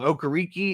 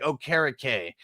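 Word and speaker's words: Okereke: Okariki is apparently wrong, but I forget how Bogard said that he said it. It's like, it's like Okarike, like carrot cake almost.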